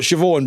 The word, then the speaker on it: Siobhan: This is a female name or a girl's name that is not pronounced like it's spelled.